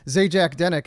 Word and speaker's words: Zajac-Denek: And then I say it's Zajac-Denek and they're like, oh, That's not that bad.